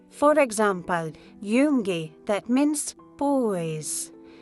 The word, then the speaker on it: Junge: For example, Junge, that means boys. Remember, J sounds like Y.